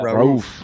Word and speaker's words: Rauf: Rauf. Yeah. Rauf. That's how you say it. Mahmoud Abdul Rauf.